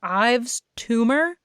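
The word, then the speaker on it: Yves Tumor: So I've been listening to, I think it's Ives Tumor, which is spelled YVES space tumor, as in I have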